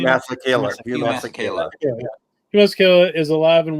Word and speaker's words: Masekela: Masekela.